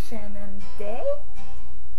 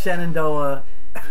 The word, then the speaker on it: Shenandoah: a thing yeah and then we're going to shannon day did i say that right see i'm tired so uh yeah so it's shenandoah national park we're gonna go on skyline ride